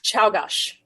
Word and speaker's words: Czolgosz: leadership, because in 1901, this guy named Leon Czolgosz, okay. I'm going with Czolgosz, and I'm sorry if it's wrong. I don't care. He assassinated... It feels Polish. Yeah. It's Czolgosz.